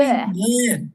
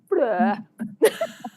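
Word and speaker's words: beurre: Bleh. It sounds like they're saying bleh.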